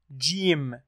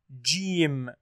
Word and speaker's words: جيم: Number two, pronouncing the letter Jim, Jim, and then pronounce the three short vowels.